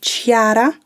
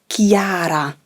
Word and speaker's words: Chiara: name chiara it's not chiara as you know there is an h in her name so c plus h plus i is ki so her first name is chiara and her last name